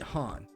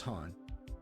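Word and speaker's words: Hahn: But while there, Elise and Chaz meet Han. At least I think his name is Han. There's no voice acting, and his name is spelled H-A-H-N. So do with that the best you can.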